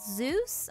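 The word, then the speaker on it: SEUS: It's called Zeus, I believe is how you pronounce it. S-E-U-S.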